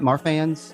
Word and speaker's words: Marfan's: Am I saying it right? Marfan's? Yep.